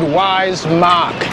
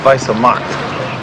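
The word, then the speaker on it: Weiße Macht: studies German in school it said wise mock it means white power it's pronounced Vice of mar yeah whatever listen um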